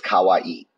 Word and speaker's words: kawaii: little cosplayer she's so cool I know you're pronouncing the word wrong the word you are looking for is kawaii kawaii means cute Kalai means scary so if